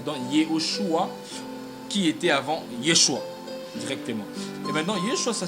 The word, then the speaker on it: Yeshua: Jésus-Christ de l'hébreu, ça dit ou ça donne Yeshua, qui s'écrit, je crois bien, avec.